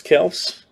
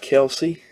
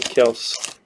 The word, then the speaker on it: Kelce: Travis Kelce. Not Kelsey, like everybody calls him. Lights out. Javon Holland, Baron Browning, and Trey Lance. I used to call him Kelsey too, till I saw his interview and said it pronounced Kelce.